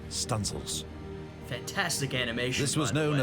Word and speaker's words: studding sails: She might even run out the stunsail booms to set studding sails, pronounced stunsails.